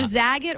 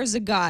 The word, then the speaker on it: Zagat: know how to pronounce it's either zag it or Zagat I believe it's zag I think a New Yorker corrected me years ago because that's where